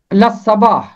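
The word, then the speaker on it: الصباح: اس کا درست تلفظ ہے اللہ صباح.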